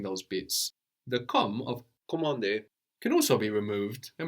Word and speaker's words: commander: So again, the N here that we have at the end of the syllable is kind of silent, no? Commander.